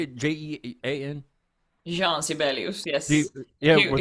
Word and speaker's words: Jean: Jean Sibelius, yes. Yeah, He- with he us it'd be perfect Gene. It'd be Gene in the United States.